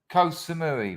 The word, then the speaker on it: Koh Samui: we go it was koh samui which is actually it's not pronounced co little joke uh mumford